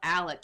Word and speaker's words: Alex: And he called himself Alec, even though it's spelt with an X.